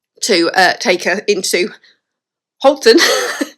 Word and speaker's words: Halton: That's how it's spelled. But it is pronounced Holton.